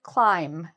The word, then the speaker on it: climb: A common mistake is that people might pronounce the B at the end. The B is silent.